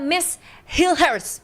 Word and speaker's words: Mees Hilgers: Salah satunya ada Miss Hilhurst, bener ya cara bacanya ya?